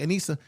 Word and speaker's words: Anisa: Anisa.